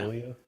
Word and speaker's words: Malia: Is that how you pronounce her name? Yeah. Malia.